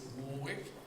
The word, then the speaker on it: Warwick: And at the University of Warwick in England, or the Americans here may pronounce it Warwick, we're trying to do